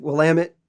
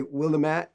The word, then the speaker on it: Willamette: tribe in oregon sorry that's my joke it's pronounced willamette and it's organ like organ in your body